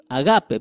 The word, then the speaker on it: agape: Agape, perdóneme. Agape. Acento en la g.